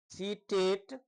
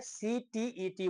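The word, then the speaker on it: CTET: अभी जो आप देखेंगे सीटेट एसटीईटी सीटेट ये प्रोफेशन रॉन्ग है। सीटीईटी बोला जाता है। लोग मौखिक बोल देते हैं सीटेट जो गलत है।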